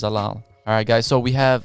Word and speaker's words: Zalal: I might not even be pronouncing his last name correctly, but I think his last name is pronounced Zalal.